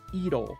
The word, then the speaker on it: 色: And then the one below that, color, we would read this as idol. Ew. It is an R sound, but it kind of sounds like an L sound. It's somewhere between an R and an L.